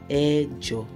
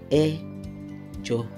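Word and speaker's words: ẹ̀jọ: Eight is pronounced as Ejo in Yoruba. Ejo. Or you say Mejo when you're using it in a sentence. Mejo. So number eight is Ejo or Mejo.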